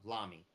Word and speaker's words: Lamy: One of them was Lamy or Lammy, however they say it, and then the other one because again, oh, did I Lamy?